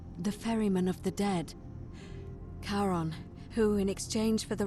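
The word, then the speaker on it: Charon: It's just as you described it, only your pronunciation is a little off. The name you heard wasn't Karen. It was C H A R O N. As in Karon, the fairyman of the dead. Kaon, who in exchange for the right coin, helps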